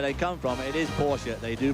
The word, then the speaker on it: Porsche: Well, if you're American, it's Porsche. If you're a German, where they come from, it is Porsche. They do pronounce the last E, but it always sounds somewhat affected if one says it over here.